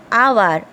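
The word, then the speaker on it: hour: ठीक है, मैं आपको और एक एग्जाम्पल दे रही हूँ, जैसे कि आवर।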